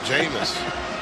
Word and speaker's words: Jameis: But I think the Heisman Trophy winner is going to rhyme with famous. Jameis.